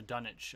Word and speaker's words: Dunwich: killing the Dunwich horror the dunnage I think it's pronounced dunnage horror on Mon Rhea I